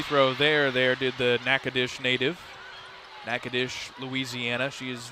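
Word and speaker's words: Natchitoches: Huskers Matt cotney pregame he said nakadish might be the most mispronounced name in sports so I'm glad we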